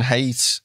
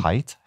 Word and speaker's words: Haidt: Well, but this is quite topical because I think Jonathan Haidt, is that how you say his name? Haidt?